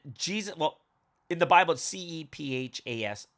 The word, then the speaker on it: Cephas: well in the bible c-e-p-h-a-s cephas or kepa you know however you want to pronounce it and what does it